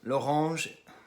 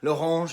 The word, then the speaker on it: L'Orange: L'Orange, I have to pronounce it the French way. L'Orange is the producer, and the rapper is Solemn Brigham.